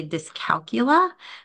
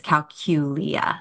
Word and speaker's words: dyscalculia: it is pronounced as calula so you almost do like a little Q or a cou in there uh when you're saying it so with the emphasis on that middle syllable and it's that is